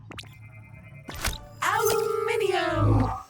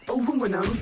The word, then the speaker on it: aluminium: aluminum or aluminum as Americans pronounce it incorrectly, but that doesn't make it any less useful.